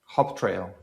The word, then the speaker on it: HopTrail: And the last one is HopTrail. HopTrail.